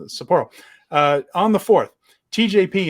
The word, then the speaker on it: Sapporo: two night event in sapro uh Sapporo why do I keep saying that you put the emphasis on the wrong syllable there uh Sapporo uh on the fourth